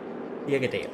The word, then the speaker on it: Birgedal: Birgedal, there we go. I can pronounce his name. Ole Petter Birgedal.